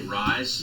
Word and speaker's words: Rhys: Harry that's the actor I think you spell it Rhys rhy yes okay would you say rise yes Rhys Hoskins okay Matthew